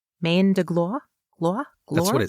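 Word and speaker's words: main de gloire: come from the French term for mandre root Mand glore or GL GLA I can't pronounce French words m a i n d e g l o i r e Mand GL that's what it sounds like yes Mand Drake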